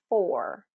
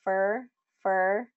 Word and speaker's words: for: So the full pronunciation is for, okay? Or, okay? But in a sentence, we usually reduce this word, the pronunciation of this word. So he's waiting for you. He's waiting for you. He's waiting for you. Do you hear how I'm saying fur instead of for?